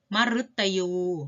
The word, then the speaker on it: มฤตยู: หมาย ถึง ต้น ไม้ มฤตยู หมาย ถึง ความ ตาย ชื่อ ดาว เคราะห์ ดวง หนึ่ง เห็น ไหม คะ อ่าน ออก เสียง เป็น รึ นะ คะ ต่อ ไป อ่าน